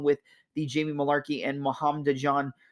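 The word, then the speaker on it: Muhammadjon: the Jamie Malarkey and Muhammad John or muhamjan well yeah am I saying that right hold on Muhammad John naimov sorry I wasn't pronouncing it right Mohammed John naimov but the other fights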